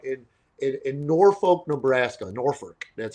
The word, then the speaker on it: Norfolk: Norfolk, that's how they say it.